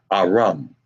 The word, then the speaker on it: Aram: is Syria okay and that is pronounced there there we would pronounce it in Hebrew Aram Aram okay the next is